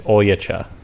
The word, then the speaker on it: Oljaca: If you pronounce it in Serbian, it's Oljaca. All Okay. right? But in Oye, cha, America, oye, cha, ven acá. they call me Oljac.